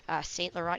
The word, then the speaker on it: St. Laurent: St. Laurent, you really don't pronounce the last T in it.